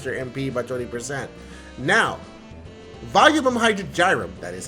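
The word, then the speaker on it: Volumen Hydrargyrum: you just charge their mp by 20 now volume hydrogen gyrum that is how you say it um the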